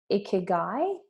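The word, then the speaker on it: ikigai: It's this uh Japanese concept, and I'm probably going to get the pronunciation wrong. It's called ikiguai.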